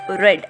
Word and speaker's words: read: be different okay so second form of read is red not r e d red not color red r e a d red now the question is